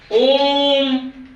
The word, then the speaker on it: ओम: ओम के उच्चारण में खींच के ले जाते हैं ओ, 3 और म, यानी इसका ट्रिपल उच्चारण हो जाता है। ओ का ट्रिपल उच्चारण। ओम, ओम, ओम ऐसा तो नहीं बोलेंगे। ओम खींच के करते उच्चारण, तो लंबा समय लग रहा है।